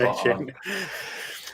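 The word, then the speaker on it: Achane: Or I know Rich made a joke in our thing where he thought it was acne, but it's not. It's not. That's not how you say it. It's Devon A-Chain.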